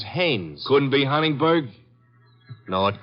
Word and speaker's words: Haines: war fishing so i what did you say his name is haynes h-a-i-n-e-s ah oh haynes yeah you know him well as your fellow named heinz used to fish oh no no not heinz haynes couldn't be honest no